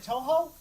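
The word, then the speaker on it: Touhou: That is from, do I pronounce it Toho, I believe?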